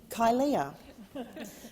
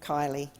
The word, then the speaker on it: Kylea: see politics done differently when people first see my name many find it hard to pronounce and often call me kylia but it's literally plain kylie spelt in a way